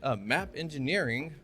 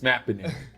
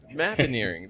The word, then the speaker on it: Mappineering: But along that, he created something called my Mappineering. I'm pretty sure I just butchered that, didn't I? Yeah, we'll get it right. It's Mappineering. Mappineering. There we go.